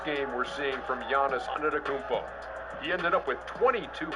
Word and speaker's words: Antetokounmpo: But even it's Antetokounmpo. It's like a P. Kumbo.